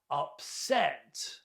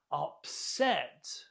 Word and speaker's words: upset: Upset. Upset. Note the stress on the second syllable.